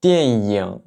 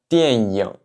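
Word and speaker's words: 电影: avoir tendance à dire dianying, dianying, et non pas dianying, dianying. En mandarin standard, en général, la prononciation standard, c'est ying, ying, donc avec la bouche plus en sourire.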